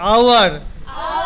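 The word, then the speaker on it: hour: আচ্ছা, আর এইচ এর উচ্চারণ অ কোথা হবে? বলো। Honest, H ও এন ই এস টি। এবার হচ্ছে আওয়ার, এইচ ও ইউ আর।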